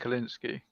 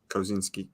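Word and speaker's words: Kosinski: to I mean I understand kalinsky how you say it Kozinski yep yeah I understand that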